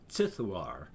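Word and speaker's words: Ziduar: being of power sithoir which is z-i-d-u-a-r but with the way i do my cosmic horror spelling that is of course pronounced sithuar so shortened just a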